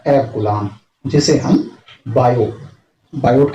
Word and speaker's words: Biot: एब कूलाम, जिसे हम बायोट के नाम पर इसे रखा गया है, जिसे BIOT, टी इसमें साइलेंट होने के कारण BO या बायो पढ़ते हैं।